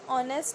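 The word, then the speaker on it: honest: H silent है, ऑनेस्ट आ रहा है, तो वी विल यूज एन.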